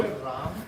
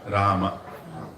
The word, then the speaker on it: Rama: Is it Ram or Rama? Rama. What if I said Ram? It's not punishable offense, but Rama.